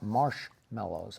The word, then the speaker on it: marshmallows: doubt either of you drink this, do you take your hot chocolate with or without marshmallows? I would say mellows, but it's spelled mallows.